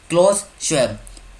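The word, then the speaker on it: Klaus Schwab: फिर से बोलता हूँ, क्लॉस श्वेब। स्पेलिंग क्या है? KLAUS और SCHWAB।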